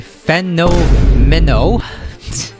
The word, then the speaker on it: Fenomeno: Well, that's how I pronounce his name. His name is actually Fenomeno.